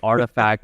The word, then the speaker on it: RTFKT: So it's like Artifact as if you were on an archaeological dig and searching for historical artifacts. That's how you would pronounce it.